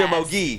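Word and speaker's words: Somogyi: And from Hungary, and her last name is pronounced Shamogi? Yes, Shamogi. close.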